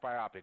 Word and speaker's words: biopic: version I guess yeah and it's pronounced biopic but you're right it's